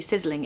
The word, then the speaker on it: sizzling: really fun pronunciation tip you want a really strong z sound in the middle so you really need to stress that because that's what gives the word the onomatopoeic quality so it makes it sound like what it's describing so sis sizzling sizzling